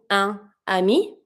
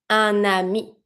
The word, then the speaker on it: un ami: I'm just going to re-pronounce my N over my first sound to connect with my second word.